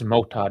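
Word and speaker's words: Motta: perhaps on the actual match so and if Millions were watching I'd be killing it uh no no not why bother it's it's Mota not mat okay I mean sure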